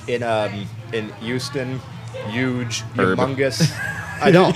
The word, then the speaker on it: Houston: And that's how we pronounce it. It's Houston. And this notion that that